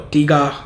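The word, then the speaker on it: Tygar: Turathi Blue, if you already know it, is an alternative to Bulgari's Tiger or Tiga. I don't know how you say it. It's Tiger, definitely.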